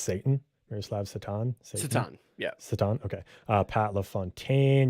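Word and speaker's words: Šatan: Is it actually pronounced Satan? Miroslav Satan? Satan.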